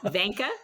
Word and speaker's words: Vinca: right by the way I pronounced my first name as if it rhymed with senka for those of you who remember Sanka brand decaffeinated coffee so I say Vanka Vanka close yep all